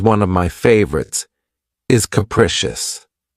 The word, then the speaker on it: capricious: of my favorites, is capricious. This word has three syllables and the stress is on the second syllable. Keep in mind that the first syllable has that schwa sound krecious. Capricious.